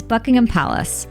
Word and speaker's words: Buckingham Palace: This, for example, is Buckingham Palace, not Buckingham or Buckingham, while this is the River Thames, not Thames or Thames.